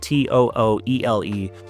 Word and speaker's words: Tooele: Now, Tooele is one of those funny words. When you see it, it's spelled Tooele. To pronounce that correctly, it's Tooele.